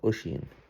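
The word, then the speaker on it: Oisín: All his son was a fellow called Oshin.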